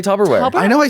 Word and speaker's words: Tupperware: correctly by the way Tupperware it's not Tupperware yeah barbarians it's Tupper with Tupperware Tupper Tupperware yes I have a band I love called people say tubber so people say Tupperware I know I say